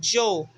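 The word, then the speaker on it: yo: nós pegamos o i e o o e pronunciamos jo ok também nós temos o pronome tu só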